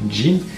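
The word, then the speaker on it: 人: On a donc le kanji qui signifie la personne, qui se lit donc suivant une lecture sino-japonaise et qui se prononce donc jin, qui est juste à côté en fait de katakana.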